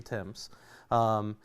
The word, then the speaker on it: Thames: of the Thames River if you're going to pronounce it right over there it's the temps and we're sitting there